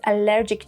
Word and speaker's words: allergic: Pronunciation point. Allergic starts with a schwa sound. Then allergy and allergen start with an a sound. Allergy. Allergen.